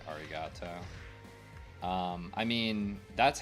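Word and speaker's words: ありがとう: located in the uh spelling instead of saying aligato you'd say arigato um I mean that's how we would pronounce it but you're essentially pronouncing a word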